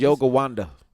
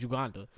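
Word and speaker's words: Yogananda: It's Now, Yoga Wanda. he pronounced it via text. No, Johnny gave us this one, I man. just said it how it's spelled. Okay, I thought it was Uganda.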